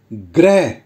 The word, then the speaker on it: ग्रह: गृह कार्य और जो दूसरा शब्द है उसका उच्चारण है ग्रह जिसका अर्थ है प्लानेट जैसे शनि ग्रह मित्रों ध्यान दीजिए एवरी